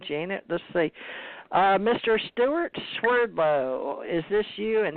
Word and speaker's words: Swerdlow: Russian name and but in United States it's pronounced Swerdlow but in Russia its fearful